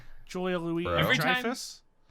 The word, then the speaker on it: Dreyfus: Every time- Dreyfus. Yeah, Dreyfus. That's how you say it.